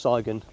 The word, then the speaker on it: Sygun: I've come down to I think it's pronounced saon Copp mine uh in